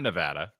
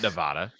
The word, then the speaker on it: Nevada: Just like we've got a Nevada. It's not Nevada. It's not Nevada. It's Nevada.